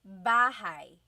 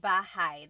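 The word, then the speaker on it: bahay: Okay, so house in Tagalog is bahigh. Bahai. Try saying that with me. Bahai. Bahai. You might notice that the spelling is a y at the end. So it looks like bahi, but it's pronounced bahigh.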